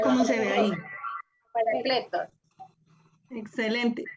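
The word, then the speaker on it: παράκλητος: Paracletos. Excelente. Pero mira dónde está el acento. Parácletos. Parácletos.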